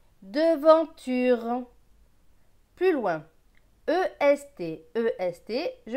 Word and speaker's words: devanture: D et E, de. V avec AN. AN c'est en, V et en, vent. T et U, tu. R et E, re. Donc ce mot va se lire de, vent, tu, re. Devanture.